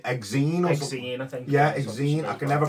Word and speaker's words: Exene: Yeah, Exene. I can never pronounce her name.